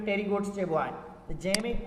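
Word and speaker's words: Pterygotes: जेके पुट टेरीगोटा वारा आहिनि, टेरीगोट्स, इन्हनि में पी साइलेंट अथव।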